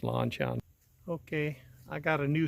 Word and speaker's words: LanShan: But I do have a yellow LanShan is actually the way it's pronounced, LanShan.